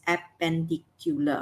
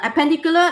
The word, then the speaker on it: appendicular: looked at appendicular okay how do you pronounce this appendicular okay quite long you have five syllables perpendicular now appendicular it just means the